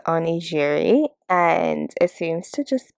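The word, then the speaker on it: onigiri: let the night continue i looked up the pronunciation and it is oni jiri and it seems to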